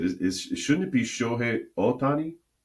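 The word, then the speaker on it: Shohei Ohtani: the years by saying Shohi Otani, you know, and so I said, is is shouldn't it be Shi Otani? Because Japanese pronunciation is very flat.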